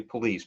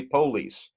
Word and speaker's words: police: tend to put the accent on the first syllable so for example police versus police in this area we tend to say police but if you go down south they'll say police or you know in in in the England